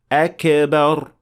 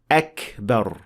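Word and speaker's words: أكبر: The most common mistake for kaf is applying qalqala on it, especially when it has sukoon. Like so: akbar, akbar, فَأَهْلَكْنَاهُمْ. So this is not the way to pronounce kaf. There should not be any qalqala. However, it should be pronounced with hams, as we indicated before: akbar, فَأَهْلَكْنَاهُمْ.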